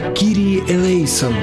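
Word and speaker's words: Κύριε ἐλέησον: По-гречески оно звучит как «Кирии элейсон».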